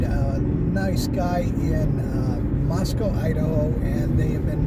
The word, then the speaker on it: Moscow: say oh we're in we're in Moscow or like and those who live there is like no no no it's not Moscow here it's it's Moscow is in Russia. Moscow is in Russia. Moscow is in Idaho.